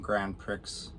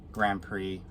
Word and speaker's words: Grand Prix: race in the um Grand Pricks Grand Prix I think uh x is silent Grand Prix um and